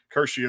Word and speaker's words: Curcio: Curcio. Curcio is how you pronounce that.